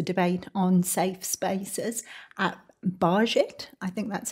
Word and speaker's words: Bajit: It's a debate on safe spaces at Bajit. I think that's how you pronounce it. Yes, I think Bayit. Bayit. It would be the Hebrew pronunciation.